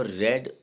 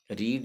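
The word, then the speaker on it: read: सी है, you have रेड a lesson, रीड, रेड, रेड। यहाँ पर रीड नहीं बोलेंगे इसको, रीड, रेड, रेड। रीड की तीनों फॉर्म स्पेलिंग सेम होती है, लेकिन प्रोनाउंसिएशन अलग होता है।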